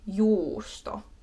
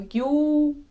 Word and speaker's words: juusto: So justo, justo, justo, justo, not justo, it's not but just stay on the U a little bit longer to really emphasize that there's two. Rather do too long than too short.